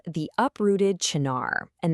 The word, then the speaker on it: Chinar: Today we're diving into a source called the uprooted Chennar and that's pronounced Chennar.